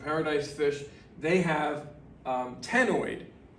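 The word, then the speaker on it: ctenoid: fish they have um tenoid you don't pronounce the c it's like nigerian scales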